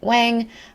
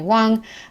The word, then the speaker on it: Wang: Dr Wong's name the phonetic way that I grew up pronouncing it as a Taiwanese chinese-american I know some people pronounce it Wang um whether it's Dr Wang Dr Wong I guess it's personal